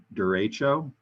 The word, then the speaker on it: derecho: a little weather trivia there's something called a derecho d-e-r-e-c-h-o that's how you spell it this is a long live line of